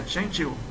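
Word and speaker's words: 针灸: A pronúncia é Qianqiu.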